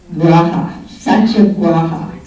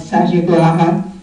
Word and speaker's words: Satyagraha: It's spelled Satyagraha, and I pronounce it Satyagraha.